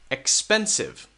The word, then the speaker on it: expensive: syllables expensive okay expensive expensive notice that we stress this one expensive expensive now it changes